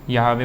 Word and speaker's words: Yahweh: और अभी मैं लिखवा भी दूँगा उसमें, ये स्पेलिंग इंग्लिश में ही होगी YAHWEH, W कैपिटल बना देते हैं वो लोग, ठीक। यहावे बोलते हैं।